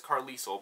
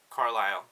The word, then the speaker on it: Carlisle: I don't know why I was pronouncing it as Carlisle, but in my head, because I saw that S, I felt like I needed to pronounce it, so definitely Carlisle.